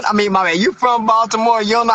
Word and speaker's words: Baltimore: Okay, I'mma say it right. Baltimore, I I I know how y'all got the I know how y'all got the name body more, but it's all good.